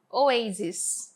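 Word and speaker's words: oases: Enquanto no plural dela vai ser pronunciado como oasis, com I, som de I, tá?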